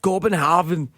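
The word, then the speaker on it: København: Um, I was in sort of a suburb the outskirts of Copenhagen or as the locals call it, Copenhav.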